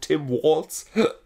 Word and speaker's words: Tim Walz: Kamala, Tim Walz, richtig deutsch ausgesprochen, Tim Walz als Vize.